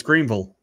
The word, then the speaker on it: Greenville: Well, if you're going to say it properly, it's Greenville.